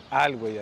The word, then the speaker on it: Alhuey: Ahorita nos dijeron alguien que vive aquí que lo pronuncian Alhuey.